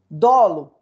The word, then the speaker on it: dolo: o dolo ea culpa dolo se fala assim para gente dólar eu vejo algumas pessoas com uma dor não tem que inventar dólar foi um põe a sílaba tônica no o dolo o que que